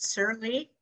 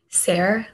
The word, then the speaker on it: Sarah: Is it Shirley? Sarah, like rhymes with Claire.